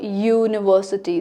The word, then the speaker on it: University: starts with U but when you say University, the sound of Y is coming.